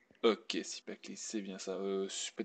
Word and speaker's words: Cipactli: Sipakli, si j'ai bien prononcé, c'est bien ça? Ok, Sipakli, c'est bien ça.